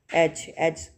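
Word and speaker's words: edge: अच्छा नेक्स्ट है एच, एच इसमें डी प्रोनाउंस नहीं हो रहा, इसकी साउंड नहीं आ रही, तो ये साइलेंट लेटर होगा, ठीक है।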